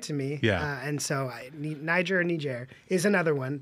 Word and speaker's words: Niger: Well, I think Niger is right. Niger is like the French pronunciation.